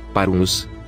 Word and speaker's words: parvus: O semiconsonante V era pronunciada como W em inglês. Por exemplo, vita. Parvos são pronunciados respectivamente Wita, parvus, com W similar ao inglês.